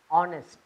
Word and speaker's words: honest: I must be honest. H is silent, so you say honest.